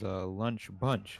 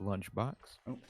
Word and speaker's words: Lunch Bunch: There was a slight mispronunciation there. It was lunch bunch and not lunchbox.